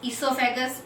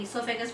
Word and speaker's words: oesophagus: जिसके main parts पढ़े थे अपने ने माउथ को अपने बोलते हैं buccal cavity, food pipe, ईसोफेगस, ओ साइलेंट होता है, OESOPHAGUS स्पेलिंग होती है लेकिन ईसोफेगस बोलते हैं।